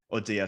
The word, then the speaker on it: Audea: Audio, sorry.